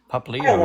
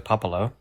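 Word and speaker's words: Popplio: Pop Leo is here. Huh? Pop Leo is here. Oh. Whom you refer to as Popolo.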